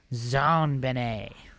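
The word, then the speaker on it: JonBenét: Other facts, John Benet was named after her father, John Bennett Ramsay, and her name is pronounced in a French style. Zan Benet.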